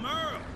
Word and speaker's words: Merle: Hey there, I'm Merle. Spelled like Hurl.